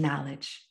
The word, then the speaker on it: knowledge: and you gain knowledge the k is silent i needed it for the acronym you gain knowledge pause assess get some